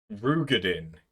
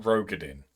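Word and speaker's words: Roegadyn: Rugadin is how you say it. Not Rogadin.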